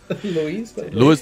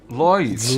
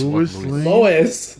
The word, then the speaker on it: Lois: Lewis Lane. Lois. Lois.